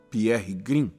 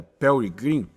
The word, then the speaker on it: Perry Green: Aí vamos nos lembrar do irmão Pierre Green. Parece-me que a pronúncia correta. É Perry Green.